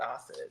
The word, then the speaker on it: AHSID: h AHS D so the ahid but we pronounce it Aid so yes okay perfect well thank you so